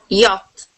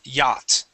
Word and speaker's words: yacht: read this word please yach yes so class the CH is silent here the word is yacht okay now what what